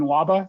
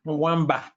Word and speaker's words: Mwamba: our prior presenter and I hope I get the pronunciation right in lava dr. M lava is that correct yeah by mwamba mwamba dr. mwamba the positive that he